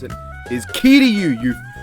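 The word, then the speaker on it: Kiryu: help the correct way to pronounce it is key to you you I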